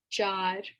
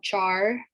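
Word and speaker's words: चार: at the end chad so it's you kind of roll your r's so it's not char it's not char like uh an american would say it's not char it's jar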